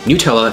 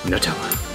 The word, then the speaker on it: Nutella: And yes, it's pronounced Nutella, not Nutella.